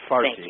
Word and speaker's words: Farsi: Yeah, it's Farsi with an F.